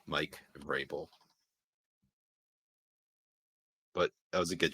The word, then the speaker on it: Vrabel: It's pronounced Vrabel. Mike Vrabel.